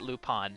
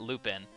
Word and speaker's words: Lupin: I know that you pronounce it Lupin, not Lupin.